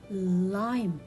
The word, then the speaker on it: lime: have lem or lime lime very good i will not read letter e but i will read it as lime why because here letter